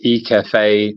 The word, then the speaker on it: IHCAFE: So it's E-Cafe 90, and E-Cafe is spelled IHCAFE.